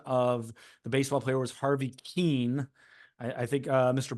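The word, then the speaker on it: Harvey Kuenn: Gary Bailey I I I mispronounced the correct pronunciation of the baseball player was Harvey Keane I I think uh Mr Bailey wanted to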